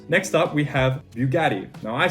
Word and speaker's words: Bugatti: is actually italian so the way you pronounce bugatti is bugatti boo boo bugatti you can get a